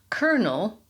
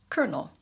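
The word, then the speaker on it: colonel: Then there's kernel. C O L O N E L, which for historic reasons is pronounced exactly like one of those little yellow things on an ear of corn, kernel.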